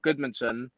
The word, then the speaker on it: Guðmundsson: like, and then also the D in like Guðmundsson, like it's GU. Like for you, it's easier to just spell it GUD, but it's actually GU, and then there's a letter called if.